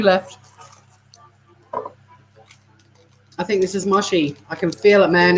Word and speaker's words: mochi: Oh, in America they pronounce it mochi. Mochi or moshi? Mochi. Moshi. Let's see how to pronounce it. Mochi is how you pronounce it, according to this.